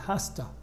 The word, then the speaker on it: has to: go ultra best la pronunciation is hafta and hasta they have to go